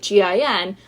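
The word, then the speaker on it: djinn: turns out it is not a magical gin like glug glug like gin it's a magical gin d-j-i-n-n as in Genie because Margo is the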